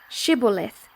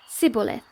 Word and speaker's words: Shibboleth: Then they would say to him, "Then say, Shibboleth," and he would say, Sibboleth, for he could not pronounce it right.